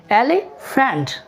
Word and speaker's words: elephant: ऐसे अगर कहें एलिफेंट, नो, एलिफेंट, एलिफेंट, ELEPHANT, faint. क्योंकि आपने याद रखना है जहाँ पर भी PH आएगा वो फे की आवाज़ देगा, फ, ठीक।